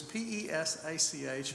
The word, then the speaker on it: Pesach: israel by night well the word that they use is p-e-s-a-c-h and that's pronounced pesach so if you ever